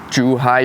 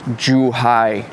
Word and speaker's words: Zhuhai: Juhai, you might not get it. Um, if you're lazy, right, just pronounce it as juai.